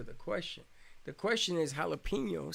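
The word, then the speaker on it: jalapeño: are there that's why in jalapeno or the J is pronounced like a H we don't bother changing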